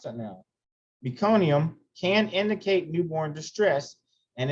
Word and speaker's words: meconium: muconium which is fetal stool the presence of mecanium nucania oh i can't pronounce that now meconium can indicate newborn distress and it is possible